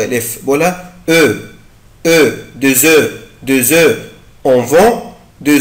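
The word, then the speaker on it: œufs: بس الكلمة دي في البلوريال أو في الجمع يعني ما بيبقى آخرها اس مش بنطق الاف، بقولها او او دو زو دو زو اون فون دو زو، احنا بنبيع او بيض.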